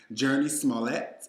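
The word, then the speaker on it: Jurnee Smollett: Tyler Perry's movie Temptation, starring Journey Smollett. I think that's how you pronounce it. Yes, that's I know her. Correct.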